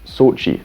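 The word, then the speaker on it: Xochitl: and then i thought no it's just sochi so it's sochi gomez that's the actress's name very simple i love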